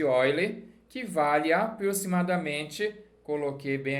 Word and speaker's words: Euler: é chamado número de ó ele se escreve eu ler mas não vai passar vergonha número de Olhe que vale aproximadamente coloquei